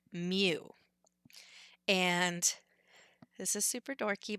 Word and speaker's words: mu: It looks kind of like a mix between an M and a U, and so that's literally like how we spell it is mu.